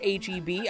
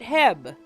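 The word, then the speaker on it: H-E-B: I know it's pronounced HB. I call it Heb.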